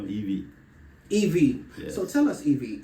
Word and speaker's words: Yvey: how do you pronounce Eevee Eevee I saw the Y and the V I used to be like vessel yeah I didn't get it so eeve Eevee Eve it's like Eve you know Eevee Eevee so tell us